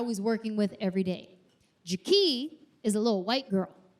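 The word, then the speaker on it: Jakee': Her name is Jaki. Not Jackie, Jaki. It's spelled J-A-K-E-E'.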